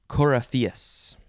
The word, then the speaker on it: coryphaeus: I don't know what they do, but they are the coryphaeus. Yep, that's how you say it.